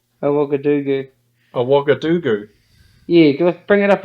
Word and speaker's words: Ouagadougou: How do you say it? Ouagadougou. Ouagadougou.